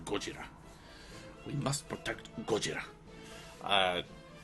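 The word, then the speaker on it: ゴジラ: sara ozawa is he he always pronounces uh godzilla by his japanese name he always calls him gojira we must protect gojira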